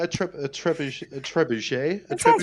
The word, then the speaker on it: trebuchet: you like yeah a trip a trip a trebuchet that's right uh you know what I'm referring